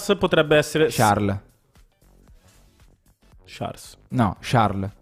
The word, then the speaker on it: Charles: essere ciarle charles a sharm charlie senza s sì perché in belgio non si pronuncia perché si dice charles shar charles così distingue